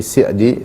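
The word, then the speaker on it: سعدي: Jadi dibacanya bukan Sa'di tapi Sa'di sebagaimana yang diucapkan oleh keluarga beliau dan yang kami dengar dari guru-guru kami ketika membaca nama beliau selalu dibaca dengan mengkasrah sin, yaitu Sa'di, Ibnu Sa'di atau Syekh As-Sa'di rahimahullahu taala.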